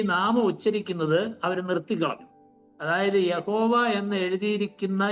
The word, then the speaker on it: യഹോവ: യഹോവ ഇത് യഥാർത്ഥത്തിൽ ഉള്ള ഈ അക്ഷരങ്ങളുടെ ഉച്ചാരണമല്ല, അല്ലെങ്കിൽ ദൈവത്തിന്റെ പേരിന്റെ ഒരു ശരിയായിരിക്കുന്ന ഉച്ചാരണമല്ല.